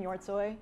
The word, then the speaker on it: Hjortshoj: before I go into my talk I'm an your toy yes that's how it's pronounced I've been at CarGurus since November of